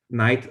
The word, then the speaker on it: knight: as h in german the same is true for knight sight and fight always written with the gh but there is no h sound there but in german these